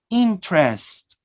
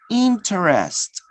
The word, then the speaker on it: interest: So here we have the word interest. Interest. Oh, yeah. Interest. Oh, yeah. 3 vowels, 3 syllables. All right. But when you omit, notice, interest, notice the word, interest, the in the middle disappear.